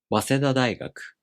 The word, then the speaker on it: 早稲田大学: So the first part becomes unaccented, and the accent falls on the first mora of the following part. And it is pronounced 早稲田大学.